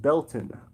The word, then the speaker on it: Beltane: The Euro holiday you mentioned is Beltane, pronounced Beltana, in Gaelic.